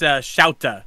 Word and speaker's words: Shota: Also, I think it's Shauta. Shauta. Or Shota. It's Shota, because that's how it's pronounced in the show.